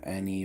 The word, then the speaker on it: Annie: Annie a hooker uh Annie rhymes with Amy she gets married to